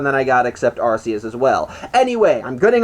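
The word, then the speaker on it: Arceus: I know they pronounce it Archus there. And to me, that sounds natural, but apparently it really is pronounced Arus. Even the games have confirmed this.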